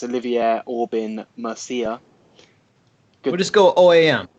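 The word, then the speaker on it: Olivier Aubin-Mercier: We've got Alexander Hernandez versus I can't pronounce his name, but I think it's Olivier Aubin Mercier.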